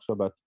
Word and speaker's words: Shabbat: Sauf que là, il se prononce Shin, donc on devrait dire Shabbat au lieu de Sabbat.